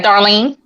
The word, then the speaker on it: Darlene: How you pronounce Darlene, right? Yeah, Darlene.